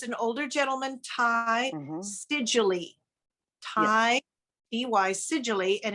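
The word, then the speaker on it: Seidule: Siedule. Ty EY Siedule, and it's spelled Siedule.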